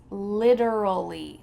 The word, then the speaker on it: literally: The first word is literally, literally. It sounds like lid, something that you put on a container. It's a lid. Literally, literally.